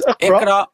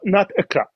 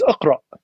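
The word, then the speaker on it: اقرأ: It's Iqra. It's not Iqra. It's Iqra.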